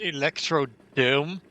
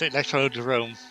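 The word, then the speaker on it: Electrodrome: There's apparently still several people that mis um that mispronounced it electrod dome. What's really stupid is it's actually called electrodome in Dutch instead of electro derome. But no, it's electro derome because everyone says it like that is correct.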